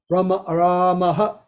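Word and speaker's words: रामः: Okay, so this is a little example of the visargas, how we pronounce them. Ramaha, Ramaha, Harihi, Gauriyaha, Shambhuhu, like that.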